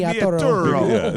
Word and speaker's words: Vigliaturo: Vigliaturo.